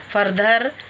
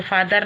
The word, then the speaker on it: farther: फर्दर FARTHER फर्दर, ये फादर नहीं है, फर्दर पढ़ना है इसको, फर्दर एंड नियरर, फर्दर नियरर।